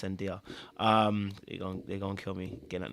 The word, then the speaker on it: Zendaya: Or Zendaya. Sorry, I think it's Zendaya. It's Zendaya.